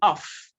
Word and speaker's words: of: So you can represent that sound with it's what you have in off. It's not what you pronounce in of. So what you pronounce in of, OF, is V, not F, of.